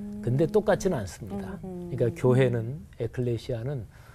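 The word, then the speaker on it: ἐκκλησία: 헬라어로 발음해 보면 바실레이아 이렇게 발음해요. 그리고 교회는 에클레시아.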